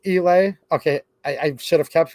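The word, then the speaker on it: Eley: Federal punches that way, and anything, I think it's pronounced Elay, right? E-L-E-Y.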